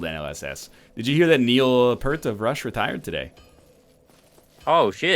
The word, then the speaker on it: Neil Peart: As does every concert now, according to Neil Peart.